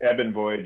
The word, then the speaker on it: Eben Void: As Daisuke said, started as Eben Void or Eben Void. Is that how you say it? Ebb and Void, yeah.